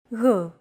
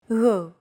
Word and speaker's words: Γ: This character isn't pronounced using an English G sound at all. Γ. It's like a very soft, continuous, and loosely held G, almost as if you're gargling, but don't make it sound too throaty.